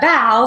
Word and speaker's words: bough: even thinking about what it meant but a bow spelled B ough is pronounced out we're not going to spend a